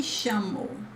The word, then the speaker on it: chamo: Eu me chamo. Eu me chamo. This CH is like sh sound, like the SH sound.